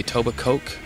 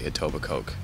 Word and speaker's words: Etobicoke: what do you say aoba Coke or itoba co aoba co even though it's spelled yeah silent k so people are just joking when they say aoba Coke yes they are what